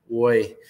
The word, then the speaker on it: Roy: forward Hugo boy um I say it like that um because the announcer for the Mavericks says it like that Hugo it doesn't sound like Roy but it's spelled like Roy like Roy Kent um one goal one